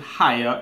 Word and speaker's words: Haier: so set here or let me pronounce it higher each a ier and